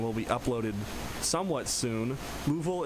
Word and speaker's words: LUVOL: Louisville is spelled L-U-V-O-L. I'm not Louisville, Kentucky, guys.